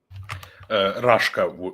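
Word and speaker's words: Raška: Early Serbian tribes organized themselves into principalities, the most notable being Rasia. Rashka, we would Rasha, say, but okay. You could pronounce like that.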